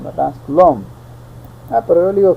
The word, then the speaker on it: Coulomb: Cuál es es el colum yo yo le digo col verdad Pero según pues corectamente la fora formaa correcta de pronunciar es coulom verdad coulom Ah pero yo le